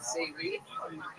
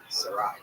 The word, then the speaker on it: Sarai: Am I saying that right? Savory? Sarai. Yeah. So you was not saying it right.